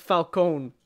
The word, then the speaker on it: Falcone: Hey, people making movies, us spaghettis, it's pronounced Falcone, okay?